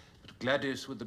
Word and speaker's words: Gwladys: It also accounts for Katherine, Isabel, and Ethel, all spelled with a Y, but Gladius with a W is a particularly virilent form.